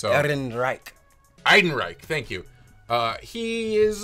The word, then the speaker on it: Ehrenreich: I think he does about as good a job playing Han Solo as I do pronouncing his name. It's Ehrenreich.